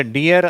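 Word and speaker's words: deer: இந்த வார்த்தை மட்டும் கொஞ்சம் வித்தியாசமான உச்சரிப்பு. இதை டியர் அப்படின்னு சொல்லணும். மான் என்ற வார்த்தை இருக்கு இல்லையா, 2 ஈ வந்தாலும் இதே மாதிரி ஈன்ற சவுண்டு வராது. அது இய, இய, டியர் அந்த சவுண்டில் சொல்லணும். ஓகேவா?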